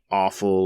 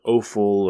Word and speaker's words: offal: And as we sort of look at offal or offal, or I guess it depends on where you're from, how you say it, the guts, the insides,